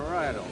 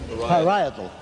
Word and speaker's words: parietal: excuse me to ask once again how you pronounce this word to Father Hesper. How is it, Father? Parietal. Parietal.